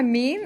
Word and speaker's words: mu: Then that is my mean, and the symbol that is used for mean with normal distribution is mu, okay, or me if you want to pronounce it properly, but nobody does.